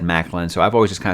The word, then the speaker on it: McLean: When I talked to John Gwynn, he recommended this series to me a lot, and he said Macklin. So I've always just kind of said Macklin, but I've heard people say it's kind of like how you would say John McClane from Die Hard.